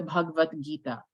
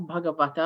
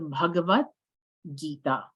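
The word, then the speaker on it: Bhagavad Gita: will find in the bhagavad-gita um and that's how you pronounce it it's not bhagavaka remember I said yesterday that in Sanskrit we don't pronounce every single a if it was written if you saw it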